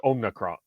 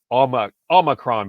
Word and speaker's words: Omicron: Hope I pronounced that correctly. And it's Omicron.